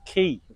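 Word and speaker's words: Cay: it's called the Caribbean Kia I think it's a kids play Park let's go and investigate so my educated daughter says that Caribbean K is actually how the Americans say Caribbean key makes more sense now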